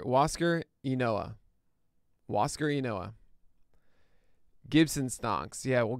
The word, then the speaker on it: Huascar: It's Huascar. Huascar Unoa. Huascar Unoa.